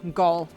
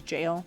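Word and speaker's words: gaol: lot of you rotten gall. Sorry. I think you're actually supposed to pronounce that as jail or jowl. A jail. It's like an old archaic version of jail.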